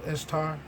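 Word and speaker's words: Ishtar: see a picture of istar pronounced easter the assyrian and babylonian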